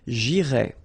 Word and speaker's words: j'irai: The first one, j'irai. Okay, remember, final S not pronounced.